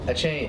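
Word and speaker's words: Achane: good defense I mean their running back Sean anyway a chain a chain I didn't think that's how it would be pronounced that I looked at the other day wow a chain I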